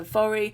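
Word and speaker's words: Voirrey: for manx girls and so it's Vari we say it vori now so thank you very much to my lovely monks friend there will for the proper pronunciation um some of the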